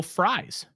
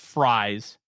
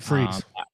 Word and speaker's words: Fries: like they're being selective and Alec mentions will fries and it is it is pronounced fries not fre I I um when I was in Mobile